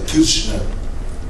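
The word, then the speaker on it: Kirchner: meter el ojo kirner decí kirner no no se pronuncia la che tanto así Fidel kirner kirner no se pronuncia la cho mucho como como muda pero é se empeñaba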